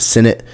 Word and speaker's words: Sinnott: Ben Sinnott, however you want to say his name, I believe he pronounces it Sinnott.